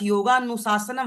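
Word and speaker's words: योगानुशासनम्: A silent है गायब हो जाता है। आप अपने सूत्र में देख सकते हैं। अथ योगा अनुशासनम अ यहां पे नहीं है। है ना? अथ योगा अनुशासनम यहां पे अ शब्द साइलेंट है।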